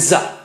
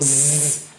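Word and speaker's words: ز: Ra and za. Za has a dot. Amazing Arabic. You see, again, a dot above signifies stronger airflow. Zzz.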